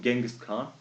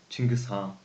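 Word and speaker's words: Чингис хаан: past I wonder why the West like Westerners they call him Genghis Khan while in Mongolian every Asian country we call them Chingiz ha so I want to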